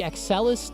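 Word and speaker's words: Axcelis: Accelis technology. It's spelled Ax C I S. Aelis.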